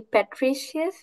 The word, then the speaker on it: Patricius: So it's, if I'm hopefully pronouncing her name correctly, Patricius, is that how you pronounce your name? Yeah, that's it.